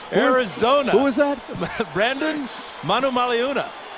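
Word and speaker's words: Manumaleuna: okay please do Brandon Manu maluna the ninth year veteran out of Arizona who was that brand Manu maluna every vow is pronounced and a great run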